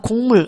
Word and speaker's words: 곡물: 자, 우리가 곡물 요거 자연스럽게 발음하면 우리 누구나 곡물 이렇게 발음합니다. 그래서 실제로이 기억이 이응으로 비음화가 일어난 현상 볼 수 있습니다.